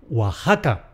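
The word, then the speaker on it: Oaxaca: Nuestro sonido jota en otros tiempos se escribió con x. Por eso también esta ciudad mexicana se llama .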